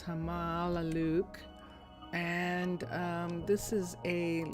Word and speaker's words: Hamaalakut: This is Hamaluke. And um and that is the correct pronunciation. Finally, I had it misspelled and mispronounced and that's why it was so difficult. Um, but it's Hamaluke and um this is a level one um